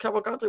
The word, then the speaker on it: Cavalcante: Cavalcante.